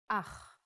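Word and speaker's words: אח: Ach. The pronunciation is important. Try to pronounce it more glottally from your throat.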